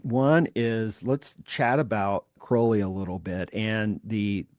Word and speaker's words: Crowley: Cly. Crowley. Yes. Crowley. Sorry. Rhymes with holy.